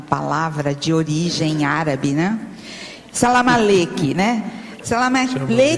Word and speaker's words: salamaleque: salamaleques exagerados é que eu eu eu li aqui Salam Malik mas a pronúncia Salam salamaleque eu aí tô firmando na pronúncia puxada pro árabe mesmo tá É porque no português é salamaleque mas como aqui está no estrangeirismo ficou assim é agora outra coisa na